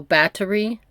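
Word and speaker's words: Báthory: her as Elizabeth battery so they separated her last name the syllables bat and H was separate so battery it's not a th sound it's like two separate but yeah I'm going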